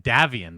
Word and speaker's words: Davion: the lore um and our dragonite davian by the way that's how you pronounce his name that's weird but i always thought it was davian he i always thought it was dave as well davion uh he was